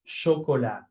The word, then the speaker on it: chocolat: Por ejemplo, en francés, esta palabra, la CH de esta palabra, se pronuncia chocolat, como sh.